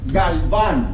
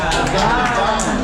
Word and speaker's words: Galvan: Just so we know, Galvan, that's how we pronounce it. Galvan.